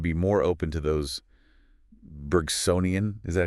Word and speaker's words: Bergsonian: we should be more open to those Bergsonian, is that how you say it?